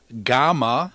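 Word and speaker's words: γ: the B in Bible gamma sounds like the G in gone Delta sounds like the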